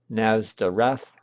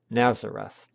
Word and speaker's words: Nazareth: With respect to the place name, the Greek accent is on the last syllable, Nazareth, while the Latin accent is on the second to last syllable, Nazareth.